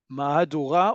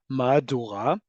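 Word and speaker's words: מהדורה: Mahadura or Mahadura, but you'll often hear it pronounced like Madura.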